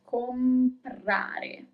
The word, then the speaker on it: comprare: To buy, for example, is comprare. You pronounce all the letters, comprare.